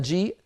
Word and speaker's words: جيء: الكلمه يشاء قروء وجيء لاحظوا بان جيء الهمزه على السطر منطوقه والياء التي قبلها ايضا منطوقه واما الالف فزائد رسما مكتوبه هكذا كتبت بين يدي رسول الله ولكن لا تنطق هذه الالف وجي المثال الاخير نبئ